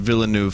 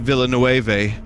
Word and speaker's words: Villeneuve: there's that vine sauce there's a ve at the end of Villeneuve for a reason all right there you go you did it congratulations you taught me how to say the word properly be lucky I didn't say Denis Villanueva but it's actually